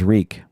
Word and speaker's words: Reek: My name is Reek. It rhymes with freak.